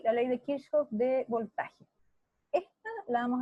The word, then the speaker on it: Kirchhoff: Hay gente que lo pronuncia de distintas formas, pero como este es un tipo alemán, entonces Kirchhoff es la manera.